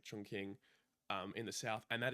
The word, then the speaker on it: Chongqing: And after Xinjiang, actually, we ended up going to Chongqing, or I think it's pronounced like Chongqing, in the south, and that is like the party capital of China.